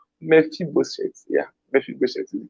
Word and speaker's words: Mephibosheth: I don't know which one is the correct pronunciation. Mephibosheth. Yeah, Mephibosheth is the correct.